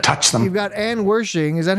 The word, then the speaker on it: Wershing: You've got Anne Wershing. Is that how you pronounce it? Wershing.